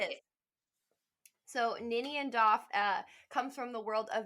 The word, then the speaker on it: Doff: pronounce this wrong, Ninian Doff. And I thought it said Duff at first when I saw the credits, and I was like, "Oh, I claim this.